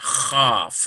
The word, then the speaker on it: chaf: We pronounce that chaf. It's sort of a slighter sound. It's more of a guttural.